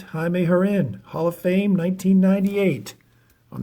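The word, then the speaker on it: Jaime Jarrín: right jaime herrin spelled jamie jaron but it's pronounced jaime harin hall of fame 1998.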